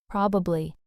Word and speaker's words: probably: The middle syllable just kind of fades out. Example sentence, Jill probably be late. Probably.